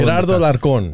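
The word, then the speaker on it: Gerardo Alarcón: Say it with the, put that butter on it like you do, with the roll. Gerardo Larcón.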